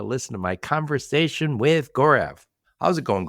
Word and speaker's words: Gaurav: to my conversation with gorev how's it going gorev going great Joe thanks for saying my name right oh I was just